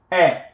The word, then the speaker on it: est: Tu will change, the verb être will change to est. Tu es, you are. Okay. Il, elle, on est. Avec un T, with a T here, qui n'est pas prononcé, which is not pronounced.